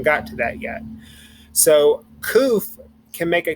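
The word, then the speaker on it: ק: letters so we have koof and koof makes the k sound koof um one thing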